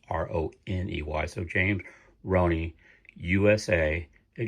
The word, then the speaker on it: Roney: You spell it just like you would the word money, Money, but it's Roney.